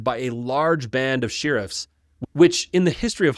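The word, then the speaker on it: shirriffs: The sheriffs very timidly, and it is sheriffs, shi r i. So if you think I'm pronouncing it weird, I'm saying it like it's written.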